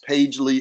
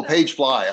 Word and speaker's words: PageFly: Mark put in there, excuse me, that Shopify apps, Pagely is free. So there you go. There's some landing pages. What's the other one? Oh, Pagefly.